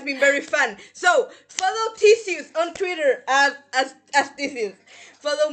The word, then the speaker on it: Thcscus: Twitter, Twitter at Theseus, but all the E's are C's. I That think is how yes, you that is my pronounce that name? username. How did you pronounce it as? Tiscus!